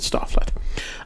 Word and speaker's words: Stoflet: It's Stoflet, so I'm gonna pronounce it Stofflet.